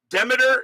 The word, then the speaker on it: Demeter: Demeter is how they pronounced it.